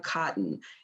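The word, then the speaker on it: Cuauhtin: his name is Tolteca Cotton. And I need to spell this for you because you really need to look him up. The first name is Tolteka, and the last name Cotton is spelled Cuuhtin.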